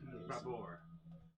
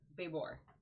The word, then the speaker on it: Babor: Babor. D-A-C. And then Babor is his last name. B-A-B-O-R. Like babe, like labor, but with a B. He's a baber. Kerdak Babor.